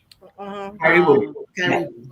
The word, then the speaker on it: Karibu: I don't want to mispronounce. Help me, Ami. Karibu? Karibu.